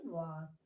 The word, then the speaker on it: walk: उसी प्रकार WALK, अब हम इसे क्या पढ़ेंगे, यहाँ भी एल साइलेंट होता है जैसे यहाँ एल साइलेंट था। तो ये टाक हुआ, तो अब हम इसे पढ़ेंगे वाक।